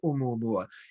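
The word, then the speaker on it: ʻOumuamua: make of Oumuamua, or Oumuamua? First, the pronunciation is difficult. It has that tick mark in the beginning, which is a glottal stop. So it's actually Oumuamua. And I can't do that. That's Hawaiian.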